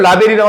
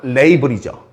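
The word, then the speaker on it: label: 가 1번 체크라는 동사가 2번 올더가 3번이 한국어로는 라벨이라고 하지만 영어 발음은 레이블이죠 요게 4번 됐습니까 어순만 연습할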